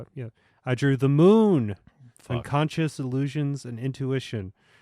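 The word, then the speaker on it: Mün: Okay, the monster is it's a moon. It's the moon, but it's spelled M-U with an umlaut and then lowercase n.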